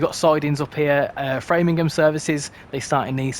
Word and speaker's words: Framingham: I think it's pronounced I keep calling it Framingham cuz I'm English and that's how I pronounce things but apparently it's framing them you got another piece